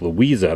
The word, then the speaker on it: Louisa: So it says Claremont there, the corner, well, not the corner, but the between Lake Susan and Lake Louisa, that's how you pronounce it.